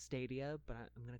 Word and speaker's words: Stadia: we've we've seen I know I know it's pronounced stadia but I'm gonna call it's Dalia Dalia is